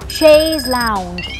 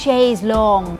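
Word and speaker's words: chaise longue: คะ หลาก หลาย ประเภท ค่ะ มี ทั้ง แบบ Chase Lounge c h a i s e l o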